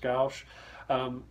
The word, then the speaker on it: gouache: I think it's pronounced gouache.